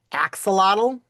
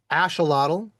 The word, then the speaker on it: axolotl: Which of these are going to be how you pronounce it? Axelottle English. Ashelottle closer to Spanish. Asholu closer to nawal. Great. Wonderful. Wonderful. Wonderful. However you do that, you are totally correct.